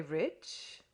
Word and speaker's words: rich: Our English adverbs do not terminate in mong and we pronounce the ch as if there were a t before it. We say rich.